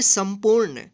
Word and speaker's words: संपूर्ण: इसके ऊपर बिंदी है, तो इस बिंदी का उच्चारण आधा न नहीं होकर आधा म होगा। ठीक है, पू और यहाँ पे अड़ा के ऊपर क्या है? रेफ है, तो इसको पढ़ेंगे संपूर्ण।